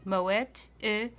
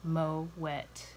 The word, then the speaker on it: Moët: a taste shall we now when you're trying to remember how to pronounce this name how do you like your champagne glass if you're like me you like your champagne glass mow wet that's right good and wet mow it so it has a